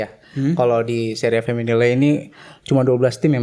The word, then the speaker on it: Femminile: Tapi baca lu bacanya emang bener feminile apa gimana sih? Feminil kalau nggak- Feminil? Iya feminil. Oh oke. Kayaknya nggak dibaca ya. E-nya nggak dibaca yang belakang.